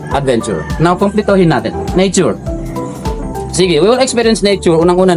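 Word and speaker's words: S'bu: meaning water yung Cebu ang spelling talaga niyan sa tribo namin is letter s apostrophe letter B and letter you so pronounce siya as Sige yung lotus flowers sa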